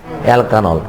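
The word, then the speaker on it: alkanol: অ্যালকানল।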